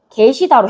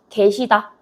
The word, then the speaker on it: 계시다: 계시다로 해 볼게요. 원래는 계시다 해야 돼요. 근데 발음 힘들어. 할머니께서 집에 계시다. 계시다. 개로 하는 것도 허용해 주겠다라는 얘기요.